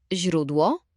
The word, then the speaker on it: źródło: A teraz źródło. Źródło. Prawie. Pamiętaj, że zi, miękkie, jest bardzo delikatne. Język musi być przy podniebieniu.